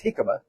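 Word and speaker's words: jícama: that hi hikma hik it spelled like Jamaica but it's hikma and I took a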